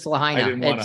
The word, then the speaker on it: Lahaina: And I've heard it butchered. No, it's Lahaina.